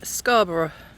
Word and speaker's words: Scarborough: so today I am in scarber British pronunciation of course which is part of